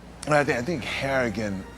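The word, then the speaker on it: Harrigan: now I I think haragan rhymes with arrogant in some sort of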